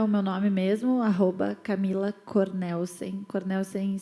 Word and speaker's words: Cornelsen: Cornelsen se escreve exatamente como se fala, não tem um S a mais, não tem um...